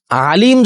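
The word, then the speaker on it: عليم: তাআলা সেগুলো জানেন তাহলে আমরা আইন দিয়ে উচ্চারণ করলে আলিম বললে অর্থ হচ্ছে মহাজ্ঞানী যেটা আল্লাহতালার একটা সিফাতি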